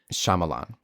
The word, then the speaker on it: Shyamalan: simple and I don't really know how to pronounce this director's name but it's m Shyamalan you did it perfect yeah well his daughter